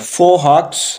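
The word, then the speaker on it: fauxhawk: फोहॉक्स, इसका जो एक्स है वो साइलेंट है।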